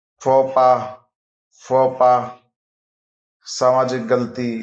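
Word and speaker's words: faux pas: बनावटी फ नकलिया बनावटी French origin word x is silent फोपा फोपा सामाजिक गलती या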